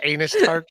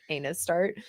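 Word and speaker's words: ANUSTART: tart over here an oh so it says anus start it says like he's like no it says a new start and she's like she just like keeps calling him anus start it's amazing yeah yeah that was always a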